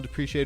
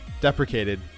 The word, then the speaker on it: deprecated: In the role software realm, depreciated refers to functions or elements that are in the process of being replaced by newer ones.